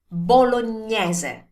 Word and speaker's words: Bolognese: Again, remember, the most common mistake here is to turn this one into an E ending sound at the end. So to say bolognese, no, never do that. And also, another common mistake is to skip the ending vowel. So saying bolognese, no, that never happens in Italian.